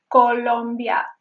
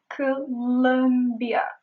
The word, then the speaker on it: Colombia: And also, the stress is on the second vowel. It is not Colombia. It is Colombia.